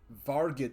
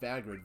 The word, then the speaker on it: Vargid: Vargid. Oh, Vargrid police. Not Vagrid. Vargid.